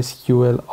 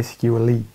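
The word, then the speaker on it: MySQLi: دومین API به اسم MySQL I هست، یا خیلی هم میگن MySQL E. در از ترجمه در از پرونانسیشن تلفظ هستش SQL I هست.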